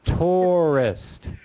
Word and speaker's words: tourist: it's a cuter syllables it's only two syllables so it's tourists tourists or there you